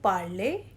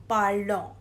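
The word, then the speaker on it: parlent: In the conjugation of il, elle plural, we will pronounce it as parle, not parlons, because all the endings which have ENT, they will be pronounced till E only.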